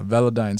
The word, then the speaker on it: Velodyne: and then there's uh veladyne or right what is it how do you pronounce it yeah velodyne style it's like a toothpaste brand yeah sensodyne that's right that's one